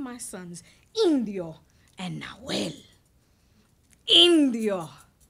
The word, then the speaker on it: Indio: Indio, not indigo. Indio.